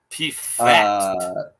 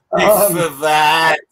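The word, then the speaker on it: Pfaadt: Pafat? Is that that's pretty amazing. I've never actually heard that guy's name be pronounced before. Yeah. Pafat. Pafat.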